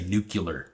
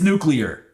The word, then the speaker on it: nuclear: pronunciation or enunciation but it just irks me when people say nuclear for whatever reason it's nuclear and if you want me to take your advice you better pronounce it right so this is the